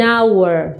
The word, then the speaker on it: hour: An hour, aqui também é igualzinho o pronome que nós já aprendemos, né, que vocês